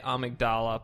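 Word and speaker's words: Amygdala: it someone tweeting with some phonetic amdal it's amigdala but the part of your brain is the amigdala yeah well this is why it's very confusing to me so that's for the sake of the say amigdala I got to fight that again to get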